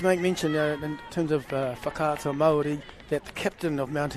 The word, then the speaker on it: Whakaata Māori: I must make mention in terms of whakaata Māori that the captain of Mount Albert Grammar. Well done, you pronounce it correctly as well.